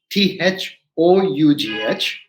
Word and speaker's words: though: o u g h it sounds as though right like the like the o n go like go t h o u d l h t h o u g h though simple so you think every time o u g h i'm going to spell it pronounce it as o now we come to